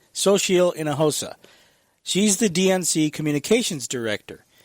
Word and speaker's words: Xochitl Hinojosa: Her name is difficult to pronounce, but it's Xochitl Hinojosa. I had to practice that. It's got a very weird spelling. Xochitl Hinojosa.